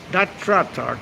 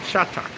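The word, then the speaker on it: trà đá: Not tratak, it's chatak. The TRA is pronounced cha, not tra.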